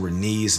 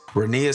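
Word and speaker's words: Rhaenys: in my last recap I was actually pronouncing Renee's name wrong as Renee but she and Allison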